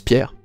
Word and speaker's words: Pierre: right which is a so my name is Pierre if you're interested in my last